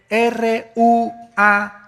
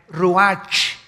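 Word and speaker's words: רוח: El ruach, que se escribe R-U-A-C-H, ruach en el hebreo. Y se pronuncia igual, ruach.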